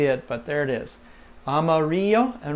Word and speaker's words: amarillo: but there it is Amarillo and remember the two L's make the Y sound as if you go